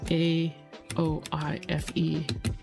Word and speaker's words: Aoife: I probably know A-O-I-F-E pronunciation.